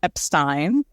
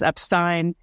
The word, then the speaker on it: Epstein: of Brian for sure and he says Brian Epstein we've all heard the tape and the Anthology